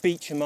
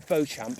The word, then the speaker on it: Beauchamp: Now, I'm reliably informed that it is called the Beecham Arms, but I think anybody who wasn't in the area would probably pronounce it the Beauchamp Arms.